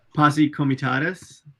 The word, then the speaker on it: Posse Comitatus: How do you pronounce that? Posse Comitatus.